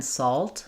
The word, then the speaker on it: salt: So there they are saying it's like the all sound. Um, so yeah, it just changes a little bit as I'm saying the word salt. It sounds a little more closed to me. Not as round. It's an A. If I'm saying the full A of saw, I have room to open my mouth. Here in salt, salt, the A gets a little bit diminished.